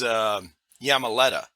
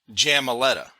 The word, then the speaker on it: Jamaleta: talked to in California, her name's Yamaleta. But and if you look up that Spanish name, it's spelled with a Y. But her mom spelled it with a J. Because in Spanish, J is like a Y sound.